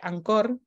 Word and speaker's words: Anchor: Spotify podemos trabajar con un programa que se pronuncia ancor pero se pronuncia se llama anchor y que se baja